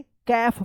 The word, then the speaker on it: calf: चलिए अब देखिए यहाँ पे CALF, क्या पढ़ेंगे? कैफ पढ़ेंगे, कैफ। यहाँ पे भी क्या है?